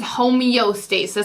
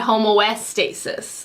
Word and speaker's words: homeostasis: I think it's homeostasis. I said homoestasis. I switched the O and the E.